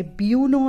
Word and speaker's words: Buono: is a philodendron and it's called philodendron jose bono some people call it jose bueno as well jose bono b-u-o-n-o is how it is spelt so philodendron jose bono